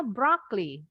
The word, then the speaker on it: broccoli: Is that a broccoli? Broccoli. Sekali lagi. Bacanya broccoli. Broccoli. Broccoli. O-nya yang ini nggak bunyi. Broccoli. Yes, that's it. Jadi huruf O yang terakhir nggak bunyi.